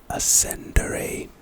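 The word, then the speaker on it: Ascendare: Alate Ascendere. Pronunciation: a latte. Ascender a latte.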